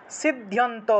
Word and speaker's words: সিদ্ধ্যন্ত: 3 নম্বর মন্ত্র সিদ্ধ্যন্ত উচ্চাটনাদীনি, সিদ্ধ্যন্ত এখানে ধয়ের সাথে জফলা থাকায় ধিয় উচ্চারণ হয়েছে, সিদ্ধ্যন্ত উচ্চাটনাদীনি কর্মাণি, কর্ম